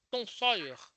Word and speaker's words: Tom Sawyer: A professora Tati me corrige se a minha pronúncia estiver errada. Tom Sawyer. Tom Sawyer. Acho que a pronúncia é essa, não é? Sim, professor. Isso mesmo.